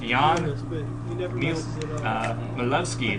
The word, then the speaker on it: Jan Milevsky: My name is pronounced Jan Milevsky, thank you, and I'm male. You got that wrong twice now.